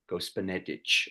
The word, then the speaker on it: Gospodnetic: Gospodnetic.